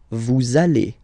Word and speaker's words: allez: Vous allez. Vous allez.